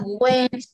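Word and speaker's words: Wednesday: đ là Quest nha không có chữ d chữ d này chữ d c nó là wday em đọc đi wday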